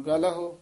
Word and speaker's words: गलह: हाँ, गलह पोला ही उच्चारण करना, जाम का फाहा गलह न कट्टी है।